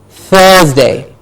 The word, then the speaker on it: Thursday: not Thursday it's Thursday how did we say we're producing the first out time between the teeth Thursday Thursday yes Friday I'll